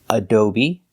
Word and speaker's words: adobe: They all end with an E that makes the same sound, the long E sound, like green beans. Recipe, coyote, sesame, adobe, karate, apostrophe, catastrophe, and acne.